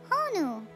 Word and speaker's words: honu: Well, we have a sea turtle and we call it honu.